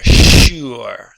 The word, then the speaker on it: sure: The SH sound, sh, followed by the Y sound, and the U, you're, sure. That's how you pronounce it.